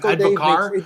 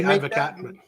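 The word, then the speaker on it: advocaat: I've been told many times that it's pronounced advocar. Disco Dave, I say advocat.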